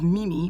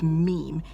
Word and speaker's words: meme: used to describe it who used to pronounce it as Mimi but essentially it's meme what it is is